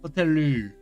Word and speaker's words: ホテル: Is the L, but sometimes pronounced like an R. It's between L and R. Hoteru.